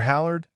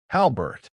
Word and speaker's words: Halbert: Dr. Howard? She asked, mispronouncing the name like it was foreign. Danielle corrected her gently. Halbert. It was confirmed over the phone last night.